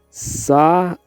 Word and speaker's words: Samhain: Eles celebravam o Samhain. Se pronuncia Samhain, um festival que marcava o fim do verão e o início do inverno, noite de 31 de outubro.